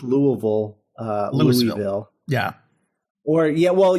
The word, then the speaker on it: Louisville: It's Louisville. Oh. it's Louisville.